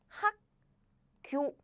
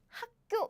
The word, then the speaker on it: 학교: So, yes, basically this pronunciation happened because the consonant in the Batchim position and the first consonant of the next syllable are 다른, same. So the first consonant of the following syllable is pronounced as a double consonant.